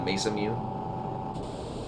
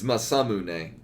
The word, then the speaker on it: Masamune: Yeah, the Mesa Mew. Well, I mean, it's Masamune. Yeah. Yeah, I guess masa like cornmeal, not mesa like a hilly plateau.